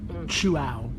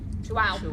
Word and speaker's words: Chuao: Chuao. Chuao. Wow. Chuao. Chew it and wow.